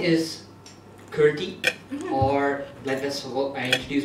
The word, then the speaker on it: Kirthy: I will say my name is Kirthy. But whenever I do that to European people, they go, Kitty?